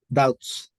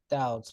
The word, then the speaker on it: doubts: pronunciation of this work doubts doubts very good yes when we have B and T we don't pronounce the the B level we have I